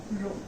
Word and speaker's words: rho: See the formula here, rho equals to, yes, this term is called as rho, pronounced as RHO.